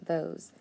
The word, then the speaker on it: those: Now remember, when I hear that z at the end of words, a lot of times it's going to be, since it's a long o and I need an e, it's going to be that s instead of a z. So the o's, those.